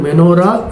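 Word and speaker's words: מנורה: எனவே இந்த மூன்று வார்த்தைகளை ஒருங்கிணைத்தால் அது மெனோரா என்று உச்சரிக்கப்படுகிறது.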